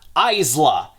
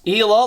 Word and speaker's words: Isla: of the rulers so we have a confirmed pronunciation it is Isla and also note for the future in case I Stumble while making this video if I pronounce Ela like what I did in the light Lark video I know it's wrong I'm going to catch